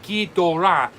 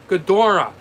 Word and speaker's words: Ghidorah: years in pronunciation and the reason i say gi dora is because japanese pronunciation pronounces that way so if yes rick knows you mean monster zero now you could pronounce it ghidorah now that's the way